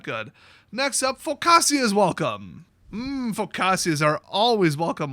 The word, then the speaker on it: focaccia: Oh, in case you're curious. Focaccia. Yeah, that probably would have been my guess. Oh well, Focaccias are delicious. You want people to pronounce it correctly, put an H on there, okay?